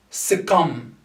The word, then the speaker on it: succumb: This one here, succumb. Succumb. You notice that the B here is silent. Succumb. Succumb is a verb that means when you accept defeat.